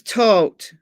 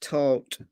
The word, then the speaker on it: Todt: Anthony Todt, like he, grim details. It's tote, but it looks like tot. It's T-O-D-T. But it's pronounced tote.